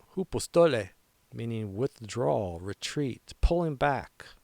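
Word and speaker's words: ὑποστολή: So we're going to Greek out on this phrase shrink back pronounced hoopostole meaning withdraw, retreat, pulling back under pressure.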